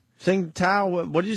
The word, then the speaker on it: Tsingtao: Tsingtao. Tsingtao.